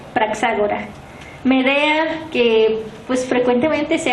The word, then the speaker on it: Praxágora: Praxágora, que es la ateniense, se deletrea P-R-A-X, acento en la A, siguiente, G-O-R-A, Praxágora.